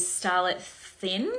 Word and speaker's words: Starlette Thynne: Then the third update, The third update is Starlette Thynne, I believe you pronounce her name.